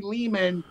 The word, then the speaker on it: Lehman: When I heard DemonScar for the first time, I'm Ari Lehman, rhymes with demon.